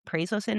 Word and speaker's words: prazosin: And then you highlighted maybe EMDR, and then there's some medications like prazosin.